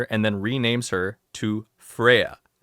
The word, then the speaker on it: Freya: He brainwashes her and then renames her to Freya, which is pronounced in Japanese the exact same way as Flare.